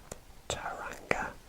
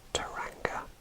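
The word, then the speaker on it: Tauranga: a bit difficult super nice but it is taranga and it is spelled t a u r a n g a and that is taranga labelled on our map and we will move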